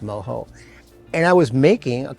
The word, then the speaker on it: mojo: if you see it in spelling but it's pronounced moo and I was making a classic um seon